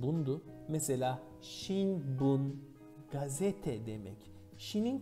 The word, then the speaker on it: 聞: Kiku, Çince okunuşu bun.